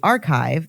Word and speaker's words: arXiv: A research paper submitted to the Archive, that's spelled ARXIV, open access platform by